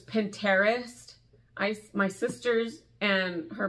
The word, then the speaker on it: Pinterest: do you guys say Pinterest do you pronounce it with a t or do you pronounce this two two separate words because it's you pin your interests or my husband says Pinterest ice my sisters and